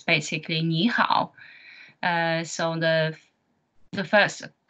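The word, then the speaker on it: 你好: that's a way we greet people in Chinese Nihao okay so as you can see here that's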